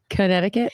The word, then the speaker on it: Connecticut: It sounded like you put an extra K on there, but yeah, Connecticut.